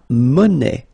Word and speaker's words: monnaie: Then, la monnaie. Monnaie, okay, final not pronounced.